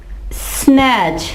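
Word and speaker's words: snatch: इसके अलावा स्नैच, ये देखें T के बाद CH आया यहां भी तो ये आवाज नहीं देगा, T क्या होगा, साइलेंट।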